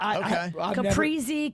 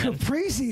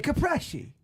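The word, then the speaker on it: caprese: Capriy is what I would usually say, but I mean, do not say it however you want it. How about that? Oh, okay. Okay. I mean, I think different dialects say it differently. Some people say capi. No, no, nobody says that.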